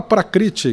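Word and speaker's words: प्रकृति: Prakruti. É difícil falar, né? É difícil. Fala de novo. Prakruti. Mas tudo bem. Não cheguei lá, não. Você fala prakriti, que é assim que se escreve, que tá bom.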